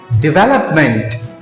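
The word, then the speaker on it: development: तो इसका सही प्रोनाउंसिएशन क्या है? डेवलपमेंट, personality डेवलपमेंट।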